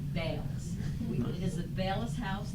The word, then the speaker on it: Bayless: I'm concerned about the pronunciation of Bayless. B-A-Y-L-E-S. We're all saying Bayless.